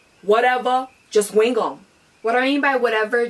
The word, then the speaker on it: Wuteva, Jus Wing Um: Today I'm going to bring you a brand new segment which I'm going to call Whatever, Just Wing It, or more properly pronounced Whatever, Just Wing Um.